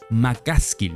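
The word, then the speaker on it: McCaskill: City uno por dos Perdón lo pronunci mal es macaskill no macaskill 8.9 muy bien por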